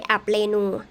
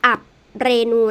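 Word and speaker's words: อับเรณู: จะ จะ อยู่ ใน อับ เรณู อ่ะ ตรง นี้ นะ คะ อ่าน ว่า up เรณู นะ คะ อับ เรณู นะ คะ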